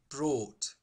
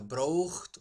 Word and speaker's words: brought: Compte, la pronunciació de brought és només amb quatre sons. B, R, O, T, brought. Res de brought o brought. No hi ha ni una U, ni cap so estrany gutural o...